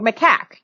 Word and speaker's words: macaque: or isp cells into embryos from maca monkeys makaka how do you say that i've no i heard that before macaque right yes macaque haha me and macaque are